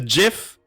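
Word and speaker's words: GIF: and then you have the jiff right that's the correct pronunciation yes our hippo friends all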